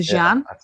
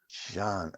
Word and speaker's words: Xi'an: I went to the Great Wall, and we went to Xi'an. Xi'an is beautiful. Xian. I don't know. Xian. Oh, Xian. Xian, yeah. X is spelled as a SH.